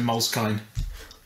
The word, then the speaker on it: Moleskine: past so buy a moleskin notebook s pronounce it properly Alex in Moleskine because it has a knee on the end for some reason can